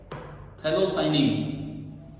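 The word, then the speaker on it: phthalocyanine: Organic semiconductor, anthracene, डॉप, थैलोसाइनिन, ये P silent है, लिख लिए नाम बुक से, ठीक है?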